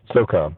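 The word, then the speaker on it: USSOCOM: How do you say it? I just say SOCOM. SOCOM.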